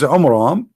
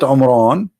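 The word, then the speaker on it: Amram: So Muhammad, he could not even copy the name correctly from the Bible about the father of Moses, which is Umram, not Umran.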